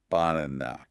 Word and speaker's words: banana: The stress is on the middle syllable, n a. Okay. n a, that's the loud part. So, since the middle is loud, the first and last syllables become quiet. They become the schwa. So, the the word sounds like banana.